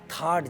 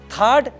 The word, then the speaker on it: THAAD: पर रोल आता है थड जैसे सिस्टम का जिसके बारे में यूएस 1991 की चोट खाने के बाद सोचा था थर्ड टी एच ए ए डी इसकी स्पेलिंग है और इसका फुल फॉर्म